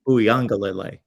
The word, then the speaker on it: Uiagalelei: I gave it like a lele at the end. Yeah, I don't want to get lazy and do the ukulele thing that people do.